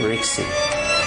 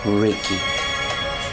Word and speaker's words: Rixie: I'm Rixie, but you can call me Ricky. In the language English, it's pronounced Ricky. But here in Hebrew, it's called Rixie.